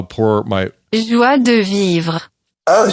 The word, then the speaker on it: Joie de Vivre: Joie de Vivre. Oh, Joie de Vivre. That's how poor my pronunciation is.